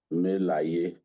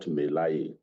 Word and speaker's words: Melaye: First and foremost, his name is Ali Ndume, not Ndume. Ali Ndume, just as Dino Melaye is the correct pronunciation, not Melaye.